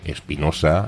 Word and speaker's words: Espinosa: más natural es decir Espinosa empezando con una e Y acabando al final con una s la última sílaba la razón de esto